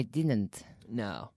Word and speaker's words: didn't: I must insist on a strong D. Right? Right. Right, Luca? Yeah. A strong D. Didn't. Didn't. Did it. Didn't.